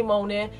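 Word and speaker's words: Mjölnir: special Hammer which is I think called mol but I don't know how to pronounce it I'm going to say mol m j o l n i r so if I've pronounced it wrong then I've let down my Viking Heritage he has become Unworthy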